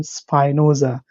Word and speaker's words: Spinoza: about one special person his name is Spinosa some people call him Spinosa because it's spelled as s p i n o z Za a so it all depends on how you call him but I will talk